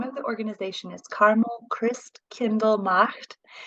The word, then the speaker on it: Christkindlmarkt: So the name of the organization is Carmel Christkindlmarkt. And I always say it like Chris, the name of a guy, and then Kendall, like the reader.